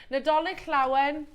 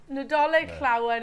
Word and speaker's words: Nadolig Llawen: Nadolig Llawen. I'm glad you pronounced that. There you go. Alison said it on the show yesterday and I tried to repeat it. Nadolig Llawen.